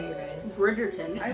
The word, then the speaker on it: Bridgerton: it do it previously on So, Burger Town? No, they know it's Netflix. Eventually, I will pronounce it right, you guys. Bridgerton.